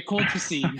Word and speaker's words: colchicine: And how do you pronounce it? Yeah, colchicine.